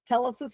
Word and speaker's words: Telesis: And so I changed the name from hands-on learning to Telesis, pronounced correctly, Telesis Preparatory Academy, and that's what our name is